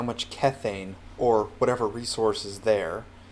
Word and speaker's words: Kethane: it kethane but then i heard majira actually pronounce it as kethane so i'm going to take his pronunciation since